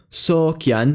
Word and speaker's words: sôkjan: It's found in words like brothar, meaning brother, oran, meaning to fear, sokyan, meaning to seek, and froths, meaning wise.